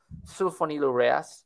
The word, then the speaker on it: sulfonylurea: There are medications right here that are called sulfonylureas. You might be familiar with those. And we'd usually pronounce it sulfonylurea.